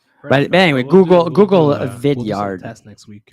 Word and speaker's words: Vidyard: anyway google google a vidyard that's next week like video vidyard like a yard i believe it's what